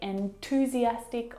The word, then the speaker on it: enthusiastic: And to move to the TH sound, you need to, of course, bring your tongue down and out through your teeth. And the tongue must come out through the middle of your teeth.